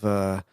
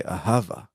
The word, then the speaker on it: ahava: Or instead of ahava, you say ahava.